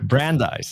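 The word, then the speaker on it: Brandeis: I love Babson and is it brand deas or brand how do you say that University brandise yeah brandise all right so obviously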